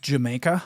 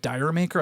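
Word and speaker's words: D'yer Mak'er: has a bizarre title it's actually supposed to be pronounced just Jamaica I guess but I always used to call it di maker I think a lot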